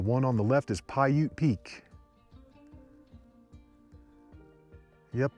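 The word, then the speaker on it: Paiute: and then the one on the left is pyute Peak yep it's pronounced Pou Peak when I did that video I was calling it peudi Peak or something the first like three4 of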